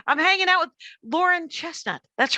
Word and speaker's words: Chesnut: And it's Chesnut with no T, Chesnut. And when you told me, you said it's Chesnut, which I thought was smart because people jump to the T. Mm-hmm. So Laruen, spelled like Lauren, Chesnut, spelled like chestnut, but no T.